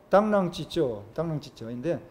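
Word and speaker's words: 螳螂拒轍: 중국어 발음으로 당랑찌쩌인데 사마귀 당자, 사마귀랑자, 박능거자, 바퀴 자국 철자, 당랑거자입니다.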